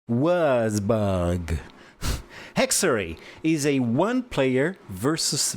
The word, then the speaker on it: Würzburg: Is that how you pronounce it? Würzburg. Würzburg.